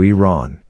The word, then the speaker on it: Iran: for mispronouncing the name of his country Adams pronounced it Iran as opposed to Iran before following up to ask whether as a